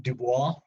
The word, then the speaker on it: Du Bois: Du Bois. That's French. He's American, but he's got French ancestry, so that's how you pronounce his last name.